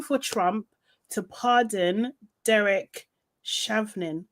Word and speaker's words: Chauvin: He is calling for Trump to pardon Derek Chauvin.